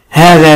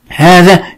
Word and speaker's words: هذا: وخلي بالك كلمة هذا اسم إشارة بها حرف ينطق ولا يكتب، اسم الإشارة هذا بها حرف ينطق ولا يكتب. هذا حرف الألف بعد الهاء ينطق ولكن ما ينفعش أكتبه.